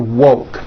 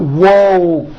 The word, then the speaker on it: woke: So here's what you do to say the word woke. First, say whoa with the W sound at the beginning and at the end, and then you just add the K sound. K, whoa, k, like that. Put it together, and you've got woke, woke.